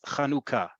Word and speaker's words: Chanukah: hand of the page, it's Chanukah. Okay, it is not the first word, which in modern Hebrew means breastfeeding. I understand elsewhere in the world, it may be pronounced differently. In Israel, modern Hebrew, Chanukah is the name of the holiday. If you can't say cha, and you can simply say ha, or a more Sephardi